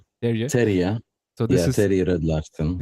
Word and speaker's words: Terje: Terje.